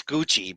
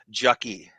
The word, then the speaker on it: Gucci: She She rails on me for mispronouncing uh it is it's it's Gucci, but I pronounced it jucky.